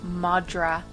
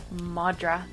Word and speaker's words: madra: It's the Irish word of the week this week is madra. Okay. Irish for dog. Madra. It's spelled M A D R A.